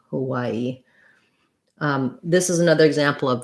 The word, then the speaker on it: Hawaii: is going to say hawaii which is sounds like y a middle syllable stress hawaii hawaii this is another example